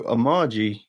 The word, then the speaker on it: Amagi: Yeah, so Amagi is, as I said, how I pronounce it.